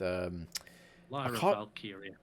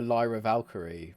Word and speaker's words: Lyra Valkyria: I was going to say I can never pronounce her name properly because I kind of want to call her Lyra Valkyrie, but it's not. Yeah, I always go with Lyra Valkyrie, and it's not.